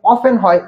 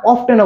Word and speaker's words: often: একটা কি হয় আমাদের, এটা যেভাবে হয় জানো কি, অফেনকে আমরা যে উচ্চারণ করি অফেন হয়, অফেন মানে কি প্রায়। আরেকটা অফটেনও বলতে পারি, অফেনকে আমরা OFTEN অফটেন বলতে পারবো, অফেন বলতে পারবো, কোনো সমস্যা নাই।